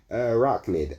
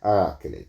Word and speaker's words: Arachnid: I butcher this guy's name all the time, and I'm very sorry. Arachnid, actually, that is the correct pronunciation. Arachnid.